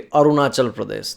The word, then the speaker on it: Arunachal Pradesh: Obviously, some pronunciations were a bit higher than it should be. Arunachal Pradesh, that's how you said, but it was surprisingly close.